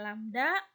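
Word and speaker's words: lambda: rise penangan lamda ini lambang ini bacanya lamda atau panjang gelombang dibagi T atau rumusnya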